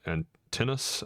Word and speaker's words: Antinous: Robert Pattinson is in Antinous, I believe is how it's pronounced.